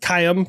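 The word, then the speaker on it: Qaim: They have the Cayam 1, which is pronounced Cayam, but it's Q AI M.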